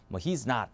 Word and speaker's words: not: not not not 뭐 not 이게 미국 영어예요음 영국은에요 그대로를 오로 발음해요 들어보시면 미국은 먼저 이렇습니다 not not 이게 맞고요 영국은 not not 5에 가깝죠 그래서 미국은 약간 아에 가깝게 영국은 그냥 5에 가깝게 이렇게 보시면 되겠고요 다음은